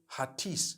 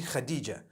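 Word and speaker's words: Hatice: across the name Khadijah in Turkish some people spell it h a t i c e I would say hatis for that no it's actually Khadija in Turkish that's the way they write it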